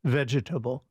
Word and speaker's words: vegetable: It's a four-cllable word, not a threecllable word. Say it. Vegetable.